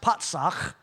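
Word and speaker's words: פָּצַח: Strong's number 6476, pronounced patsach, and it means to break out, to break in pieces.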